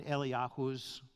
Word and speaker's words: Eliyahu: Number 5, what effect would this event have on Eliyahu's ministry? Eliyahu being the Hebrew pronunciation of Elijah.